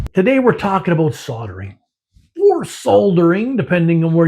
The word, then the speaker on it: soldering: Today we're talking about soldering or soldering, depending on where you live. But here in Canada, we call it soldering. The L is silent.